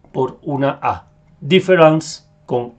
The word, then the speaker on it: différance: que son muy importantes tenemos difference que se pronuncia Exactamente igual pero como ven acá en el primer punto de esta presentación se escribe con al final con e n c e y lo que